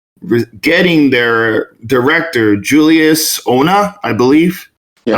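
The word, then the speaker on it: Julius Onah: 4 getting their director Julius Ona, I believe. Yeah. I'm not sure that's how you pronounce it. That's how you pronounce it. Nailed it.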